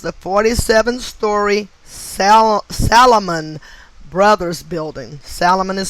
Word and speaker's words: Salomon: 11 2001 was the 47-storey salomon brothers building salomon is spelled s-a-l-o-m-o-n the solomon brothers building building seven